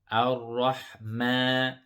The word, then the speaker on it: الرحمن: Ar-rahma.